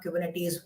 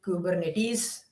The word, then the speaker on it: Kubernetes: We are going to create our own application, deploy it on Kubernetes.